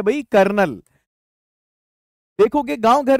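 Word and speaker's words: colonel: सबसे पहला तो ये है भाई, कर्नल।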